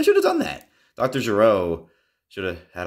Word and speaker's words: Gero: my favorite figures doctors I don't know but to me it's gero it's pronounced how it is in the show and that's how I'm gonna stick to it Dr gero brown pants